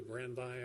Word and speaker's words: Brandeis: You may be, I probably will mispronounce the gentleman's name, but you've read his name, and perhaps you can pronounce it better than I, Louis Brandeis, I believe it is, B-R-A-N-D-E-I-S, who said, in